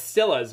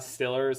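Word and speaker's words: Steelers: It's Stillas, right? Like you don't pronounce the R, it's not Stillers, it's Stillas.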